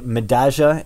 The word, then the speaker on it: Medalla: madaga is finalizing again and by the way madaga is how it is is named after a a subway stop in buenos aires and madaga is how they they pronounce that so you have to say the ja for the double l if you speak uh rio platenze spanish anyway madaga is finalizing